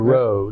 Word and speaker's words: Rowe: Major Rowe, though. Yeah. Pronounced Rowe? Yeah, Major Rowe.